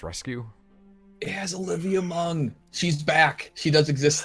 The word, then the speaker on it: Munn: You always say Mung. So, it's Munn. That's how they say it. Is it not Olivia Munn? I think it's. Wait. I gotta spell it out. Oh yeah, I guess there's no G in there.